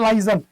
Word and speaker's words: liaison: और संबंधों के लिए एक शब्द आपको दिया हुआ है लाइजन। इसकी स्पेलिंग बहुत इंपॉर्टेंट बेटा, LIAISON, लाइजन।